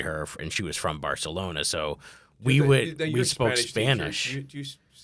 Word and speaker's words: Barcelona: Do you say it like you see it on TV like Barcelona? Barcelona. Well, in Spain they do the lisp. So when there's a C next to an E or an I, so like Barcelona, they would do a TH sound.